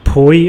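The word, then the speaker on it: Poy: He won Poi on Steam, P-O-Y. That's how it's pronounced. That's how it's spelled.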